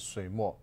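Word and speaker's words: 水墨: So Chinese pronounce it Sui Mo.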